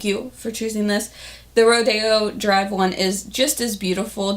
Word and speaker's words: Rodeo Drive: the shade Rodeo Drive, which everybody tells me that's Rodeo Drive. You guys always correct me in the comment section, so I guess it's Rodeo, but I've kind of been boycotting it because it's spelled like rodeo.